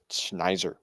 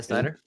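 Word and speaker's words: Snyder: name um isn't it Dan something schneer no yeah Dan yeah Dan Snider is it yeah Dan Snider there you go I said it I said it wrong but Dan Snider yep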